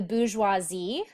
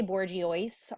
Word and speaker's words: bourgeoisie: is divided into three major groups uh the bourgeoisie that is how you pronounce that word bou join z do not say borgioice um on our call or i will fire